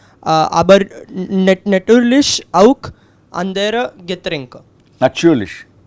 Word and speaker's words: natürlich: That U umlaut, it has a, see, even the word for die Natur. Die Natur is a word for nature. Here the T is die Natur, T. Aber with the umlaut that follows, it becomes a ch, natürlich. It's almost like T, C, H, kind of a natürlich.